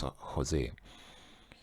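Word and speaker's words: José: So Jose says, but obviously in Spanish it's Jose.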